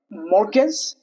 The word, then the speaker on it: mortgage: Mortgage. Sorry. Morgz, it's not mortgage. It's mortgage. Morg is the correct one.